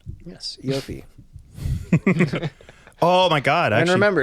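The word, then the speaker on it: Iofi: We'll start with Eofi. That's how you say it. Yes, Eofi.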